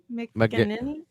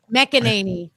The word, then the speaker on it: McEnany: Kaylee McKinney.